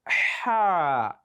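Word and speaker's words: ح: If you want to know you are pronouncing ha, just place your hand like this in front of your mouth and pronounce ha. You will see some breeze touching your palm. So the breeze will come out naturally. Ha, ha, ha, ha. So it sounds differently from ah.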